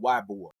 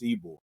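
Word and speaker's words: Ybor: the first thing they say is where's this Eore City? They call it some people call it Wbor, you know, because it's spelled Y B O R, but it's pronounced Eore, right?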